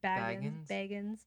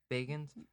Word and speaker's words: Bagans: I might be saying his last name wrong. I have always said it wrong. Baggins. Bagans. I don't Yeah. fucking care. Makes me think of The Hobbit. Bagans. Baggins. Baggins. Sounds like Baggins Here, to me.